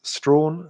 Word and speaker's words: Strachan: My name is Strawn, spelled Strachan, S-T-R-A-C-H-A-N.